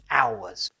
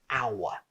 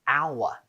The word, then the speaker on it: hour: But let's look at the sound of the word hour. We say hour, not hour. When we write it down, there is an H, but careful, the letter H in hour is silent.